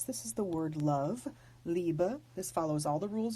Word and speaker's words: Liebe: let's take this word this is the word liebe the bee is pronounced like a bee because the B is not final in the word it's the word for